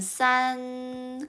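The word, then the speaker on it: 三: 8 9 같이 볼까요 3 3은 발음이 원래는 싼 근데 뭐랑 비슷해요 산 여기서 질문 좋은 뜻일까요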